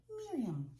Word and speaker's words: Miriam: And for people who want to pronounce it correctly, I just tell people to say it with the nose. Miriam.